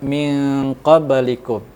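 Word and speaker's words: من قبلكم: Cara membacanya agak sedikit samar dan dengung dan ditahan selama 3 harokat. Min qablikum, min, agak samar-samar seolah-olah ketemu langsung dengan huruf qa.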